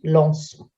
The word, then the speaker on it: lançons: it comes a C, the C becomes C, cédille before the letter O in the nous. So looking at a verb like lancer, we'll say nous lançons.